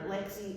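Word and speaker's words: Leagsaidh: Her Lexi is spelled L E A G S A I D H which is how you spell Lexi in Scots ga.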